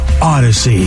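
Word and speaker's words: Audacy: of great podcasts on Odyssey and uh you spell it like this a-u-d-a-c-y Odyssey let's play to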